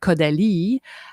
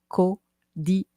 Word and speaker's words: Caudalie: So this brand Caudalie had this amazing story. I'm going to tell you a little bit because I'm sure you're curious. So you can go on the website. It's spelled C-A-U, Caudalie.